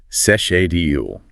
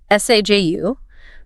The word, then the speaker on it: schedule: If you're working for an American multinational with an office in Munich, it's sesh-e-dule. If you are working for a British firm or a traditional German company that leans toward British English, it's saj-u.